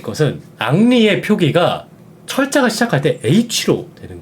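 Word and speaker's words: Henry: 그 히읗 소리가 무음입니다 프랑스에서는 h 발음을 하지 않고요 그래서 en R 요것만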